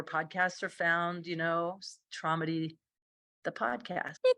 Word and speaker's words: Tromedy: to get access to traumdy. And it's spelled kind of funny. T R O like comedy with TR in front.